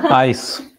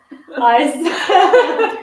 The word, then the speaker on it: ICE: Ice. Ice. Why it's called ice? Yeah, they don't pronounce it like ice. They say ICE. It's not ice.